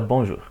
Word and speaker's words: bonjour: E é pronunciada bonjour.